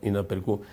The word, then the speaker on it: inaperçu: Ahí dice en el libro inaperçu, se ve inaperçu, pero esa C con la cedilla, el signito que está abajo, se pronuncia inaperçu. Se pronuncia en efecto inaperçu.